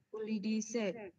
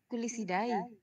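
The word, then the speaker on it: Culicidae: Yang pertama, nyamuk dari keluarga Culidaceae. Salah ya, apa kau bacanya? Lanjut saja, salah. Apa bacanya itu? Kuli apa? Kuli bangunan. Kulisidae.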